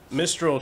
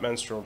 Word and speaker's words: Mistral: cane yeah curd ape Mistral charger not menstral charger nature's claim deep analysis is that how you say that yes that is